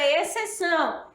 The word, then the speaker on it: exceção: é discípulo tá bom a palavra exceção esse x aqui ó é XC é o que é dígrafo o de quando é dígrafo duas letras que representa apenas um fonema e Quina que u